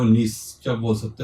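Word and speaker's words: gneiss: दूसरा लिख सकते हो नीस। क्या बोल सकते हो, नीस। यहाँ पे जी साइलेंट है, इसको क्या बोला जाता है, नीस बोला जाता है, ठीक है।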